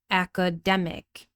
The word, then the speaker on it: academic: Unstressed with a schwa sound. Academic, academic.